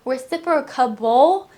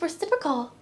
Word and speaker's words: reciprocal: That was very helpful because I was always adding a reciprocable, but it's just reciprocal.